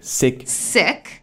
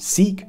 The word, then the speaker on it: Sikh: Sikhism, pronounced like Sikh, not Sikh, started here in Punjab, pronounced Punjab, not Punjab.